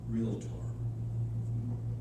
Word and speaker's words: Realtor: she said dick um the word is pronounced real tor a in there where